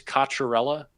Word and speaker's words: Katella: couple of comments where people ask me to pronounce my last name so it's Katella for anyone who's been